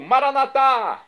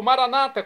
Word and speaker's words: Maranata: e agora eu clamo do aramaico maranat como dizemos nós católicos ou Maranata como dizem nossos irmãos separados os evangélicos ou protestantes não importa pronúncia o significado é o mesmo vinde Senhor Jesus